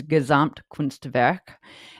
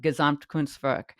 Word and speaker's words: Gesamtkunstwerk: And it's, will probably mispronounce this, but it's Gesamtkunstwerk.